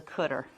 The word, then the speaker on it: CDR: and this cell here this is known as the cter CDR car and cter just a common pronunciation for it so let's say given